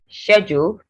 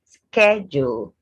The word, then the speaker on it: schedule: british then garage american this word has about four pronunciations schedule for british then americans go schedule schedule tomato british tomato i